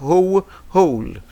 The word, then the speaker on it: who: Whole. Donc on ne le voit pas, mais on le prononce. On doit l'entendre. Okay? So, ici, on prononce seulement le H, on ne prononce pas le W.